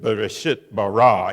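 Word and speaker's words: בְּרֵאשִׁית בָּרָא: In the middle of the initial poem about the creation narrative, we are not only beginning with Bereshit bara, in the beginning God, so we have BB sound, but then a little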